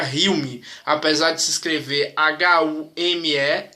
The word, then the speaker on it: Hume: David Hume, não sei como é que fala, se eu não me engano se pronuncia Hume, apesar de se escrever Hume, se pronuncia Hume, né?